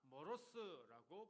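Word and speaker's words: μωρός: 여기 어리석다 머로스라고 발음하는데요.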